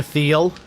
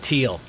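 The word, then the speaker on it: Thiel: Peter Theal. He has a th in the beginning of his name, but he wants you to pronounce it teal. No, it's Theel.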